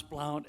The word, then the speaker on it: Blount: Blount, and you pronounce Blount as in you can count on Blount.